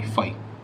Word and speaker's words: phi: इसकी स्पेलिंग होती है PHI, फाई।